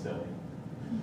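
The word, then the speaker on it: Scilly: i kid you not this is called the isle of silly but it's not it's spelled but anyway this island is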